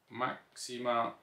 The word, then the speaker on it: Maxima: for example maxima today it is spelled with an with an x so maxima like the princess um this is the